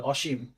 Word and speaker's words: অসীম: এই অটা ও এর পরে যেহেতু দীর্ঘিকার আছে, এটা ও হয়ে যাবে। আর তালাব্বা শয় ম, নিচে হসন্ত হবে অসীম। এখন বলো এটা কেন হয়েছে?